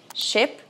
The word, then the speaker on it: ship: Mas no inglês vogais tem um tempo diferente. Isso muda tudo. Porque assim, por acaso você já se perguntou qual que é a diferença da pronúncia de ship e sheep.